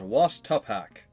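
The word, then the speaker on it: Oaxtepac: He pronounces it Wash Tupak.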